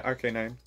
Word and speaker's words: Arcanine: So right here we have the Arcanine. I pronounced that right? Yeah, RK9.